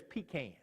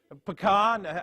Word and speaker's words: pecan: If you're from somewhere besides Mississippi, there's pecans. Right? And there's almonds and dates. Pecan. I said pecan, but he said it right.